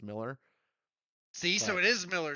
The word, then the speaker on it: Millar: I often say Mark Millar because it looks like malar and I said it that way so long and then I found out it's just pronounced Miller see so it is